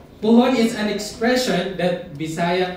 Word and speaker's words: puhon: So one of my favorite words in Bisaya is the word puhon. Okay, puhon. When you spell it, it's gonna be P-U-H-O-N.